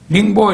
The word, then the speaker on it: 닝보: 닝보 이게 한자로 그냥 쓰면은 이제 영파라고 안녕할 때 그 영자에다가 파도라고 할 때 파, 영파라고 우리 발음으로 한자 발음으로 읽어지는데 이건 이제 중국 원어 그대로 하면은 닝보인데 테일러는 닝보에 머물면서 그곳